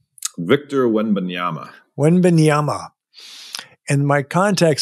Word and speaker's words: Wembanyama: How do you pronounce his name? Victor Wembanyama. Wembanyama.